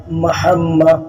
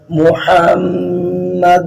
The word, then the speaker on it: محمد: ان ایسے پڑھنا، اور محمد کے اوپر پیش ہے، بعض لوگ محمد پڑھتے ہیں تو یہ غلط ہوگا۔ جو ہا کے بعد میم مشدد ہے اس پہ دونوں ہونٹ ملا کے پڑھا جائے گا، محمد رسول اللہ۔ حی علی الصلاۃ حی